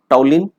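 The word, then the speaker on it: toluene: एक नाम दिया है टॉलिन स्पेलिंग अलग है लेकिन प्रोनाउंसिएशन अलग करते हैं देखो जरा टॉलिन मिथाइल बेंजीन यह नाम भी आईयूपक ने एक्सेप्ट किए हैं।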